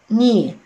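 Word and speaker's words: knee: هنا بقى حاجة مهمة جدا، حرف الكي لما بيجي قدام الان في البداية يبقى برون ايه؟ not pronounced. يعني ايه not pronounced؟ يعني silent letter لا ينطق. يبقى هنا ننطق اول حرف عندنا ايه؟ ن. يبقى ن اي ني، ن اي ني.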